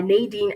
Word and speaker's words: Nadine: I do pronounce my name Nadine, though, not Nadine. It's Nadine.